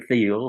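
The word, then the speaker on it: Thiel: a guy named Peter theel who's a Wall Street huster His Name by the way conveniently rhymes with steel some of these guys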